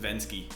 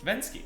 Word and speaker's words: Venzke: Vince then no svenska no it's given actually pronounced been ski been ski oh I should been scared Vince Kia in